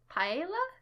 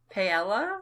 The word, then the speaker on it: paella: on this table dang how do you pronounce that first one paella pailla payella pie paella p-a-e-l-l-a hey i would say pay-ela pay-ela pesto ravioli lamb chops